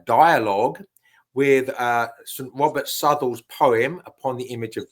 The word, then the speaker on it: Southwell: Robert Sle. The Robert Sle is um that's spelled Southwell, by the way, for people that that want to check it out for themselves.